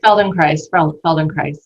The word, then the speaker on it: Feldenkrais: Feldenkrais.